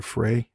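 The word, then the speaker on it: Amber Frey: called Amber fry or fry yeah most people say fry I think it's fry yeah although it's spelled like prey p r y so but anyway I'll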